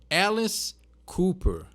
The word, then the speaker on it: Alice Cooper: O jeito de pronunciar corretamente o nome dele é quase que um E com acento e o O fechado. Então Alice Cooper. Então tu fecha o O e abre o A.